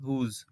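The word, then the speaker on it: whose: হুজ মানে হচ্ছে যার এটি হচ্ছে এক্সেপশন বা ব্যতিক্রম এর উচ্চারণটা হচ্ছে হুজ এবারে দেখো এই ওয়ার্ড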